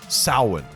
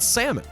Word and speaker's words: Samhain: an ancient Celtic Festival called saan but what exactly is sin and how do we even know anything about it some of you probably even think it's called sammon though based on the way it's spelled Sam hay yeah and so as